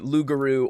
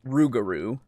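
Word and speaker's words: rougarou: getting less sure of the lugaru or rugaru depending on how you pronounce it because they're both are different pronunciations that are the same thing um and that's why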